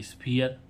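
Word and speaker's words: sphere: साथ आ रहा है तो हम क्या पढ़ेंगे मियर टी एच ई आरई देयर है ना एच ई आरई हियर डब्लू एच ई आरई इसमें भी आरई साथ में आ रहा है हियर एस पी एच ई R E last में आ रहा है है ना तो स्फीयर है तो गाइस आशा करते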